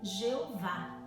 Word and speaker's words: Jeová: sou e se traduzem quatro letras yhwh são só consoantes né conhecido como tetragrama sagrado raramente pronunciado pelos hebreus é se traduz né na nossa leitura nossa pronúncia com yaveh ou jeová então essa expressão eu